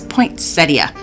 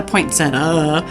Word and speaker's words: poinsettia: Yes, poinsettia. Not a poinsettia. It's a poinsettia.